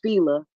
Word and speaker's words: Fila: I learned that it's supposed to be pronounced Fila. I was like, you ever, yeah, in the South we say Fila.